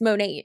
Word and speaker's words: Monat: compassion for her situation why isn't she pronouncing it correctly it's monet this is so essential